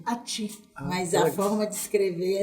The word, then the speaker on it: Achtschin: É ACHTSCHIN. Olha Atim. Atim. Aí, né, todo mundo fala Ati. Mas tem uma forma correta de pronunciar.